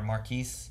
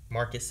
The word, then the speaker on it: Marquis: or something yeah or marquis marcus i guess is how you actually say it right it's marcus jet or is it marquis jet i guess he said marcus i think it's just marcus but it's spelled like q-u-i-s yeah but yeah